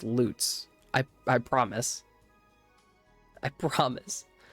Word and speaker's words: Lutz: Like it it's it looks like it would be pronounced Lutz because it's L U TZ, but it's just it's loots.